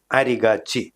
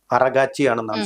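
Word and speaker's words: Araghchi: അവര് ചെന്ന് കണ്ട കൂട്ടത്തിൽ ഇവരുടെ വിദേശകാര്യമായ മന്ത്രിയായിട്ടുള്ള അബ്ബാസ് അരിഗാച്ചി എന്ന് പറയുന്ന, അറഗാച്ചിയാണെന്നാണ് ശരിയായിട്ട് എനിക്ക് തോന്നുന്നത് ഉച്ചാരണം.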